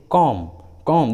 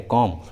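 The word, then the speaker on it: comb: जैसे कॉम, देखिए इस इंग्लिश वर्ड में लास्ट में बी आया है और उस लास्ट वाले बी के जस्ट पहले एम है, इसलिए यहाँ बी साइलेंट है, कॉम।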